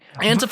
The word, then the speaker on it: Antifa: Antifa or Antifa, I've heard it both ways.